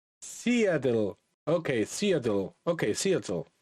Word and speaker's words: Seattle: Okay, it's pronounced Seattle.